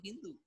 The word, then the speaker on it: Sindhu: The Persians who came to India had heard of the fabled Sindhu River, except that when they pronounced it, they dropped the S and called the river Hindu.